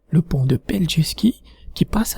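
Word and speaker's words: Pelješac: pont un impôt qui s'appelle attention pour la prononciation plg ski le pont de punch ski qui passe à travers cette ville en fête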